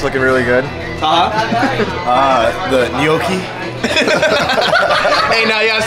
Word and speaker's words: gnocchi: The gnocchi. Hey, now you gotta say it right. How do you say it? Yeah. Gnocchi.